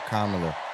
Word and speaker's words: Kamala: Put it together and it's 1, 2, 3, Kamala. All right, so let's practice. Let's practice. Everybody over here say comma. Everybody over here say la.